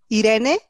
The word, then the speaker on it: Irene: my friend uh thank you very much agustin irene that's how you pronounce my name but i tend to answer